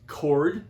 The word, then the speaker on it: chord: a chord and it's pronounced chord like in music i know it's a ch but okay all right